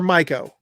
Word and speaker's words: Miko: Yes, So, you know, a lot of people, get confused with Miko Weaver, and you pronounce Miko or Myco? It's Microwave. It's like Microwave. It's like the oven, no R.